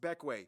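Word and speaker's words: Bequia: but if you want the incredibly condensed rundown beckway yes pronounced beckway it is the largest and most populated grenadine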